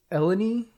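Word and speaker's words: Eleni: about French here but Hera's mother's name ends in an eye but I guess with either the French or the riyo dialect it it makes a long e sound okay and her her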